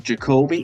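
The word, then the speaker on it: Ja'Kobe: I before you go on, I just got to say his name is Jacobe. His parents purposely said that they named him after Jordan and Kobe.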